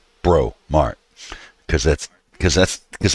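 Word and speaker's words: Breaux Mart: of them I mean we got bromart and it's spelled b-e-b-r-e-a-u-x bro mark because that's because that's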